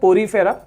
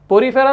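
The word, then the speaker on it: Porifera: सो सबसे सिंपलेस्ट वाला है पोरीफेरा, ठीक है, पोरीफेरा। सेकेंड है सिलेंट्रेटा, ये प्रोनाउंस करना सीखो पहले, पोरीफेरा, सिलेंट्रेटा, ठीक है।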